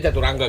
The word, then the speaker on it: Caturanga: Tulisannya emang gini ya, Caturanga. Dibaca Caturangga gitu. Ejaannya.